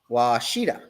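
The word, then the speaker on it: Ouachita: Washita. Oh, okay. That's how you pronounce that?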